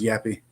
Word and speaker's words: JP: By the way, that's pronounced Yappy.